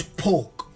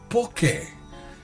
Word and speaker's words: poke: This is poke on the mainland. In Hawaii, it's pronounced poke, and it is a raw fish dish prepared different kind ways.